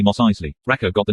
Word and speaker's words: Mos Eisley: eisley the pony asked you mean mos eisner it's actually mos eisley raccoon got the name